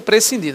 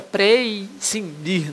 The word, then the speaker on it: prescindir: A pronúncia prescindir, não diga precindir, não, tá? Que as pessoas criam um i no meio dessa história da pronúncia aí de forma equivocada, viajada. O verbo prescindir significa dispensar. Veja, dispensar.